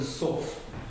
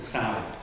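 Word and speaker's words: Sough: It's Kelbrook and Suff, not Kelbrook and Sound. I know they say Slough, but this is Suff. Suff. It's sort of like very flat. So Kelbrook and Suff.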